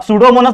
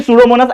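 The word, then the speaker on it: Pseudomonas: आ जाएंगे सूडो मोनस अब सूडो मोनस बराबर है ना ये स्पेलिंग सूडो मोनस लेकिन उसको क्या मालूम उसने तो रट्टा मारा है खाली उसको क्या मालूम कि सूडो मोनस एक्चुअल में पी से चालू हो रहा है पी एस सीडीओ ठीक है ना सूडो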